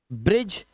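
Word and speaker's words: bridge: ब्रिज, पुल को बोला जाता है।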